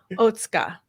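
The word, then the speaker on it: Otsuka: time today Dr OTA I was pronouncing your name incorrectly this entire time so I apologize for struggling yeah pronouncing you're pronouncing my name very good quite oh thank you thank you I'm I'm gonna try not to say it too often but it is OTA yes that's it and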